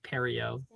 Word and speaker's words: Perio: Like Perry the platypus. Perio.